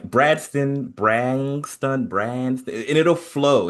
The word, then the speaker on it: Bradston: So, uh, the the easiest way to remember how to say it is like Winston. That's my dad's name. Brad. Bradston.